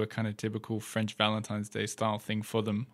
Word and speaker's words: Valentin: there yeah and so it's not Valentine's by the way in French it's Valentin Valentin so don't go wishing